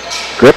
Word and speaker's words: Gryp: He's got it over to, is it Grip? Is that pronounced Grip, Tim? Sure. So we'll call it.